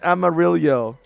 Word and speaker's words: Amarillo: It's Amarillo. Like armadillo.